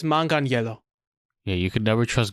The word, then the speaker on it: Manganiello: like part of his last name is spelled like my middle name, so the last part is Agnello. Joe Manganiello? Yeah, it's Manganiello. Mangelino, but that's also the internet, so I wouldn't. It's Manganiello.